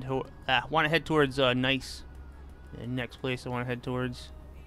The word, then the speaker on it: Nice: It's not pronounced nice. It's pronounced nice.